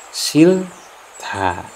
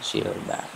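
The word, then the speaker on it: 싫다: Kemudian silta. Sil, ini kan da, bukan silda, tapi dibacanya itu silta. Saya ulangi, silta, bukan silda.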